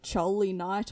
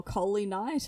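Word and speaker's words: Choly Knight: to pronounce her name it's jolly night or coley night it's c-h-o-l-y and then night like a knight in shining armor sort of thing i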